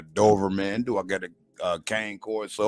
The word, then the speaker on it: Cane Corso: Do I get a Cane Corso or Connie Corso, as some people like to pronounce it?